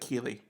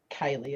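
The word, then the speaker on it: Keighley: pronounce his last name I always thought I was like Keely it's Kylie as far as I know okay no I I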